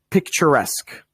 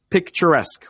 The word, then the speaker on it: picturesque: me tell you how to say it correctly picturesque picturesque we're going to be doing some more pronunciation after after a moment but picturesque means